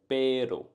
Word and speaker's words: pero: Pero.